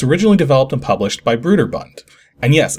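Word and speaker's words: Brøderbund: developed and published by Bruder bun and yes it's pronounced with an oo sound and not an o sound a few people over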